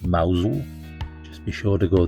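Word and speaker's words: Mousehole: This impossibly cute little town, pronounced Mousel.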